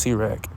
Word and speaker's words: Sirach: Turns out it's actually pronounced Sirach.